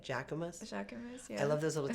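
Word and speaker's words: Jacquemus: it wrong I said I used to say Jack Queen Queen I don't know why I made up my own name I decided that I was going to say it with an accent how do you say it jacus jaus I love those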